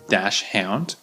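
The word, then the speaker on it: dachshund: dash hound because it when you look at it it looks like Dash shund and maybe they do call it that in German or another language I'm not sure but in English it's usually pronounced dash hound and the funny thing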